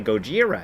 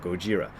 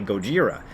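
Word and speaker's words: ゴジラ: So Gojira. So people think, oh, it's really Gojira. Well, it's not Gojira or Godzilla. It's something kind of in between.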